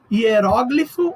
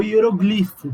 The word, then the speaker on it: hieróglifo: Hieróglifo ou hieroglifo.